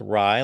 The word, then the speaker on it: Raiola: anything yeah our guy Jose says it's Ry like Ry bread and TMZ is saying